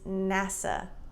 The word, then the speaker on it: NASA: NASA. Now this one we don't say NASA, it's NASA. NASA.